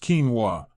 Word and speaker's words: quinoa: Pronounced quinoa, this small but mighty seed is a nutritional powerhouse that can play a big role in stabilizing blood sugar.